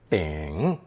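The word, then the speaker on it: 秉: a sheath of millet pronounced third tone bing bing it was most likely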